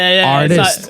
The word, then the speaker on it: Rtist: I'm like, you're not even pronouncing the R.